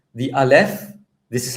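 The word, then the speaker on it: אלף: This case the consonant is alf. And alf doesn't make a sound.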